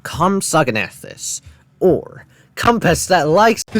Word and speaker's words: Compsognathus: It is pronounced Compsognathus, or compass that likes